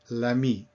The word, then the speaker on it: l'ami: to say, in fact, you must not say le ami, you shorten it to l'ami, L apostrophe. So this is not optional, this is called obligatoire, obligatory. So if it is a female friend, you add an E on the end of ami, but it's still l'ami when you want to say the friend. This is called elision.